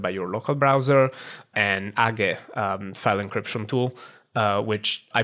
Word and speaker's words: age: that are trusted by your local browser, and Age, file encryption tool, which I pronounce Age.